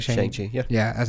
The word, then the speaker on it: Shang-Chi: Shang-Chi, yeah.